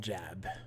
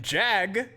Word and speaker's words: Jag: types right the name's captain jab i said it wrong captain jag like the show i've been assigned